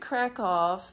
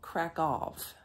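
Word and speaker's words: Kraków: American English I say crack Al because they spell it k r a k w but the locals call crack off like with an F or a V at the end I'm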